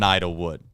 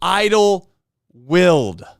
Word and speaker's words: Idlewild: you, I have been calling it Idlewood. But it looks like it's called Idlewild. So tonight we are going to fix that. And as we know on this show, we are all about the pronunciations. We never miss them. So the Disc Golf Pro Tours LWS Open at Idlewild. Definitely not Wood.